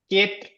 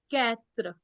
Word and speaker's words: quatre: Quatre, हाँ, K नहीं है. Quatre.